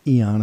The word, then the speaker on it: Aeon: Of course, it's pronounced Eon according to the Cambridge official, but it's Dark Aeon.